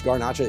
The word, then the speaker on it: Garnacha: And yes, Garnacha is actually Grenache, just the Spanish pronunciation.